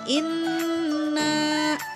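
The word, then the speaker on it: إِنَّا: Yang pertama bisa dilihat dalam ayat yang pertama, di kata inna. Nah, di sana ada nun kan berharokat tasydid, maka dibacanya itu harus didengungkan dengan 2 atau 3 ketukan.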